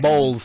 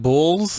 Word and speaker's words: bowls: Bowls, not bulls.